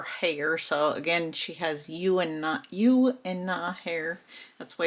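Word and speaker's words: Juna: So again, she has U and Na hair. That's why it's pronounced.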